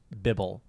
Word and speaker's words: Bibble: Mr Bibble over there I think it's still spelled the same way as Bible just pronounced Bibble you would know you